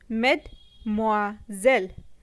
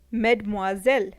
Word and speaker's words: Mademoiselle: pronounced as Madame Madame miss in French is pronounced as met more zel Mademoiselle met more zell Mademoiselle ladies and gentlemen is a common expression used